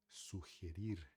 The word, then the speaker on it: sugerir: A mesma escrita tem muita palavra em português e espanhol que se escreve igual, porém a fonética é diferente e a gente precisa tomar cuidado. Sugerir, então, tá?